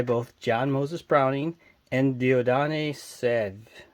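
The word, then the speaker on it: Dieudonné Saive: It was developed by both John Moses Browning and Dieudonné Sèvres. I think is how you pronounce his name. It's French.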